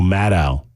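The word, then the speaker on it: Maddow: the Rachel mad C I mean sorry Rachel madow show I mispronounced it earlier my bad and uh and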